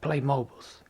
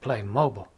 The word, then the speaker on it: Playmobil: I said, you call it Playmobil? And she said that's how they say it. I said, oh, the whole time I've been calling it Playmobiles, just Playmobil. And she said no. She said no, so it's Playmobil.